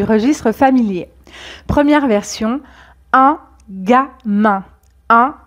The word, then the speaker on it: gamin: Première version, un gamin. Un gamin. Donc ici, G plus A se prononce ga.